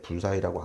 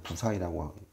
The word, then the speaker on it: 부사의: 부사의라 그러고 불가사의에서 가짜를 빼면 불사인데 불사의라고 안 읽고 우리는 부사의라고 읽죠. 한자는 똑같은데 읽을 때 한글로 읽을 때 부사의라고 하죠.